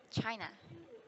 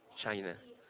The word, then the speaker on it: China: China. All So right. it ends with A, but not pronounced as A, right? Yeah, it's a schwa sound.